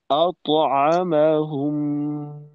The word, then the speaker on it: أطعمهم: আত, এরকম হবে তয়ের কলকলা, তো উচ্চারণটা হবে আতআমাহুম। أطعمهم আচ্ছা, যেন আতো একেবারে ওকারের মতো আতো হয়ে না যায়, আতো।